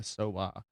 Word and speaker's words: Sowah: So born, obviously, Miela Elizabeth Goodchild, born the 4th of June 2000, marrying Josh Sowah in, is that how you pronounce the name?